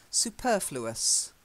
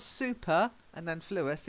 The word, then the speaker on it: superfluous: then the next one superfluous suppose that's it's not super and then flew us it's superfluous anything that's more than you